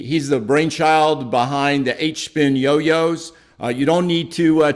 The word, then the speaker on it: HSpin: the uh engine behind hspin and i and i am saying that right it is just pronounced h-spin is that correct absolutely